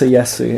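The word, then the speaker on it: Tsaesci: How is it written? I think it's Seisi, I think it's pronounced Seyesi in the game. Like ESO is, funnily enough, the first game in which we actually hear it pronounced. Ah. So I think they pronounce it Seyesi. So let's say Seyesi.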